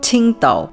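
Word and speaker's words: Tsingtao: people and because the west pronounces the alphabet q different to the east they had to label it ting tao with a ts instead of a q just so the folks back home don't call their product quintal beer and then during world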